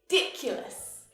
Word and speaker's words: ridiculous: the last 10 years ridiculous ridiculous hear the stress when i exaggerate that's ridiculous di ridiculous also notice how this u is pronounced as you but ridiculous now this